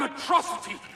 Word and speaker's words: Metrocity: This is a day you and Metrocity shall not soon forget. It's pronounced Metro City.